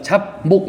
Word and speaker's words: 잡목: 잡목은 우리가 잡목 이렇게 안 하잖아요, 그죠? 발음할 때 잡목 하잖아요. 잡목. 그러면 잠목이라고 하면은 여기는 비읍이 미음으로 바뀌었어요.